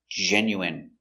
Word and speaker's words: genuine: J- J E J N Jen Jen Yen Yenu genu genu I genu genuine genuine genuine first syllable stress Genuine.